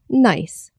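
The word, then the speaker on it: gneiss: it nce but but it's actually pronounced nice I can't believe we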